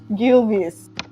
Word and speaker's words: Gilvis: G. Hard G. Gilvis, girl, And who are they?